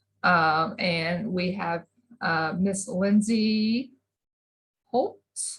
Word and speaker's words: Schultz: And we have Miss Lindsey Schultz. Is that how we say our last name? I meant to ask you before. It is. That special silent H in there kind of.